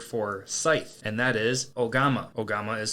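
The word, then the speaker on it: 大鎌: Today's Lance's Lessons is going to be the Japanese word for scythe, and that is ogama. Ogama is spelled O-G-A-M-A, and ogama is very fitting for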